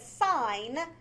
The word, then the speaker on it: sine: e we're just lazy so it's not sin a lot of people want to say that sign the reason we write